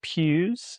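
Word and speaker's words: Pijus: So my first name is actually Pews pronounced like Church Pews.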